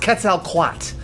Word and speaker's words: Quetzalcoatl: It's pronounced Quetzalcoatl.